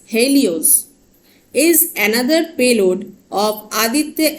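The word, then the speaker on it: HEL1OS: payloads of Aditya L1 h e l One OS pronounced as Helios is another payload of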